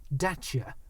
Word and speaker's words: Dacia: It's actually pronounced Dacia.